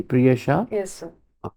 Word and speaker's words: Priyasha: evening good evening sit down prha am I pronouncing your name correctly priha yes sir all right so priha we'll like